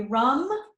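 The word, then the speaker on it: raṃ: be rum again uh in Sanskrit if you see an R A it was it's a short a if you see an a with a line over it or two A's then it would be ra then it would be more of a ram but if it's a short a a uh more of an uh sound like rum um the yantra is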